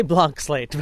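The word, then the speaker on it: Blanc Slate: that we have and you call it blank slate but you spell it like Blanc do you pronounce it blank SL slate or a Blan slate I say Blan slate but but I have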